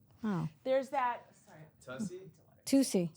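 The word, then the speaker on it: Toussie: Tusi. Tusi There's slide. like the Tusi slide.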